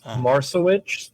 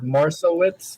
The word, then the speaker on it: Marcewicz: So, uh there's two ways to pronounce it. There's Marsalewicz or Marsalewitz, which is the American way. And then Polish way is Marsavich.